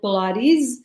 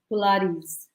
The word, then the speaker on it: pilates: how you say it it's not pilates i know korea you said earlier that pilates so the way you say this is polaris that's pilates yeah like that so with pilates in pilates and fitness